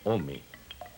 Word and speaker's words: ome: El numeral del año es dos, que se pronuncia ome.